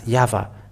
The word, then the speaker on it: Yahvah: So it is up to you to think when the Hebrew, when it is read in the Hebrew, the Yod, Hey, Vav, Hey is pronounced as Yahvah.